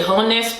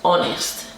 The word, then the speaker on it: honest: is being hot harness my husband says it's a silent H but you know unbearable so forgive me so I say harness but he says it's honest we take away you